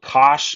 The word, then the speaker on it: cosh: it's pronounced cinch s-i-n-c-h this is pronounced the way it's spelled cosh it's hyperbolic cosine uh